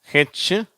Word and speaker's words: who: வார்த்தைகள் வாசிக்கும் போது நீங்களும் புரிஞ்சுக்குவீங்க சரியா இங்கடக்கு ஹ என்ற உச்சரிப்பு வரும் வார்த்தைகள் ஹூ சரியா அங்க அந்த வன்ற உச்சரிப்பே வராது ஹூ ஹோல் சரியா இது ஹோல்னு